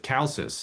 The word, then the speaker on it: Chalcis: So another question that we have here is, so several women played prominent roles in the region's politics, including Berenice of Chalcis. I Right.